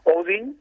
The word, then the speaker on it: Odin: día a ver eh Mira te voy a decir cómo se pronuncia correctamente todo el mundo le decimos odín también aquí pero odin se llama el dios eh tiene más auge